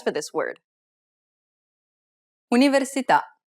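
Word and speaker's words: università: stress for this word universita the accent is on the vowel at the end of the word so the answer is the last syllable how about this one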